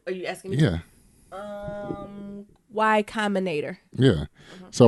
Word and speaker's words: Y Combinator: Like why Why commerce? No, why commentator? You still don't know it. How you pronounce that? What, are you asking me? Yeah. Y Combinator.